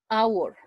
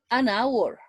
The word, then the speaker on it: hour: this case it is it's necessary to write h but but not pronounce the pronunciation is our hour an hour an hour but not